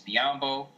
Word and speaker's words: Biyombo: Toronto which probably means biyombo which rhymes with Mutombo is out of there